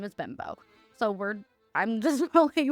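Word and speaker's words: Bembo: I've looked it up and how to pronounce it. His last name is Bimbo.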